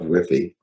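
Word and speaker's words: WIIFY: talk about Whiffy, and it's nothing to do with Wi-Fi, right? Whiffy.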